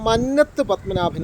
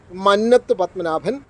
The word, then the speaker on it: മന്നത്ത് പത്മനാഭൻ: ഭൂരിപക്ഷം ആളുകളും ഭൂരിപക്ഷം ചാനലുകളും ഉപയോഗിക്കുന്നത് മന്നത്ത് പത്മനാഭൻ എന്നാണ്. പക്ഷെ മന്നത്ത് പത്മനാഭനാണ് ശരിയായ ഉച്ചാരണം.